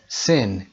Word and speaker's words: sin: sin تلفظ sin یه کشیده نیست، یه کوتاه.